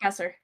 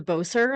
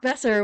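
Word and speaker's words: Boeser: uh Brock Brock BOS how do you pronounce his last name sorry Brock besser Brock besser I always want I always want to go in with a boser and I'm like that's not right um it's bestie yeah bestie uh I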